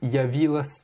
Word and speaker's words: явилась: Non, c'est явилась. Явилась. Donc le ya, tu le prononces comme si c'était y, y si tu veux. Et tu mouilles bien le s à la fin de явилась.